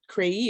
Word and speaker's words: CREI: the first piece is CREI is cultivating racial equity and inclusion. And we decided to pronounce the acronym in Spanish because it means I believed.